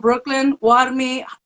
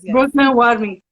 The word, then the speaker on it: BrooklynWarmi: And so first and foremost, everybody, before we get started, this is Elena from BrooklynWarmi. Am I pronouncing that right? Yes, you're Elena? pronouncing it right. Yes. BrooklynWarmi.